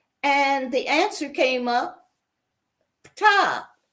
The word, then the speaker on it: Ptah: And the answer came up, Ptah. I know people say it should be pronounced Ta, but I put that P into front of it so people can recognize it.